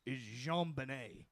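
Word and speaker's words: JonBenét: He names his last daughter is Jean Benet. Well, I mean, but It's spelled just like his name, but it's pronounced this French fuckabout way.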